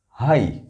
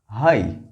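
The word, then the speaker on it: high: यहां भी जी H silent है. फ्लाइट, ब्राइट, site, Sai, हाई. Good. फ्लाइट, ब्राइट, site, Sai, हाई.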